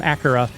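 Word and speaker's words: Akira: the voice so accurate it's spelled akhira but they call him a kura he he is like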